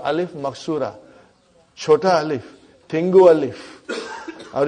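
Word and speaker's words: ألف مقصورة: It is ya, but it is pronounced as alif. It's called alif maksura.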